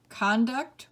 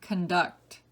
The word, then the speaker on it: conduct: Different syllables are accented. Number 2, compound or compound. 3, aged or aged. 4, conduct or conduct.